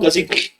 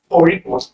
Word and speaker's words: Kozhikode: So it is pronounced Korikot, where probably you have to take a ra sound by twisting your tongue and touching it up on the upper side of the chin.